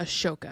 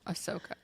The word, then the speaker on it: Ahsoka: Wars where a Ahsoka it's not aoka it's aoka oh Ahsoka oh believe me I've